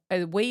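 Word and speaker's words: oui: yes in French uh we is spelled we and it's pronounced we e. We Yes. We in in hindsight I actually as in we are the champions.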